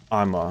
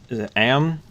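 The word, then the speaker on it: Amn: Thinking about heading towards Amma. Is that how you say it? Sorry? Is it Am? How do you say that? Oh, Am? Yeah. Okay. Sort of like alms for the poor, but Yeah.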